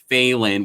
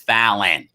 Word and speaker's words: Falynn: correct you both on calling phalen when it's fallen ballon oh sorry it's such a bad way to say her name i thought it was